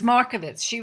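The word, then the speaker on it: Markievicz: And the countess that you mentioned, Countess Mankiewicz, Yes, how do you pronounce her name? And she is Countess Markovitz.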